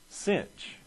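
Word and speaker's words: sinh: and interesting here enough it's pronounced cinch instead of sign we call it the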